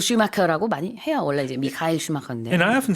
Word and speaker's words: Michael Schumacher: 원어의 발음보다는 그냥 영어로 발음하기 편하게 바꾸는 경우가 많이 있거든요. Yeah. 그래서 마이클 슈마커라고 많이 해요. 원래 이제 미카엘 슈마커인데.